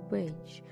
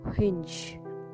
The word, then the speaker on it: whinge: I repeat, guys, the word is called whinge, and the way it's pronounced is kind of starting with hinge. And more precisely, when you hear or when you say it aloud, it becomes whinge.